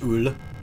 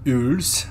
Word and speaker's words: Eule: Yule or Ule? I want to say the German pronunciation is Ule.